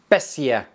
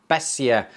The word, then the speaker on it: Beissier: to pronounce that and my wife says it's pronounced bessia bessia now if you Google